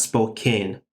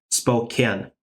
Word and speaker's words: Spokane: Farber, Spokane, not Spokane. Spokane, Philadelphia, Kingsville, Breckenridge, Forest City, Frona, Kellow, or yeah, it sounds like Kellow for me.